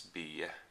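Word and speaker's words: Bye: by matthi B or spelled b-y-e is this last name spell so probably English speaking people will pronounce it matibai but it's be so anyway I think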